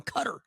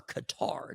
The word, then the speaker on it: Qatar: This is the free jet from Qatar, or Qatar, depending on how you choose to pronounce it.